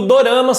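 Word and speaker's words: ドラマ: Resumindo, doramas são produções dramatizadas da televisão japonesa. No Japão, a pronúncia da palavra drama soa como dorama.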